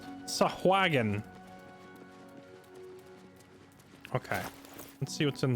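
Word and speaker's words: Sahuagin: It was awagon. Well, now we know how to pronounce it. It's sahagon.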